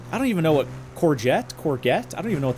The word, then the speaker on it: courgette: Is it soft G or hard G? Courgette? Courgette? Or courgette? I feel like it's a soft G. Yeah, no, that's all good. Hey, there it is. Read like French. Okay, so yeah, soft. Like a courgette.